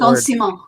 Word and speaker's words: arrondissement: I can't pronounce that word. Arrondissement.